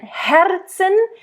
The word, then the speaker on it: Herzen: So again, Herzen, because the R is in the middle. I think here you should roll it. But make sure you really bring out all those consonants, the H, Herzen.